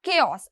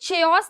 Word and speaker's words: chaos: Next we have केओस। अब इसे चेओस नहीं पढ़ना है, ठीक है, अब इसे चेओस नहीं पढ़ना है, इसे हम केओस पढ़ेंगे, है ना। यानी हमारे उच्चारण में के आना चाहिए जब भी हम इसे प्रोनाउंस करेंगे।